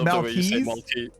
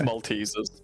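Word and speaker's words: Maltesers: You said malt it's maltes.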